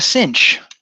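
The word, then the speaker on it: sinh: be what we call the Cinch SI I NH the hyperbolic sign okay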